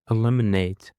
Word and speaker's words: eliminate: And now let's go to another word which we have and it is eliminate. Eliminate. The stress is on the second syllable as well.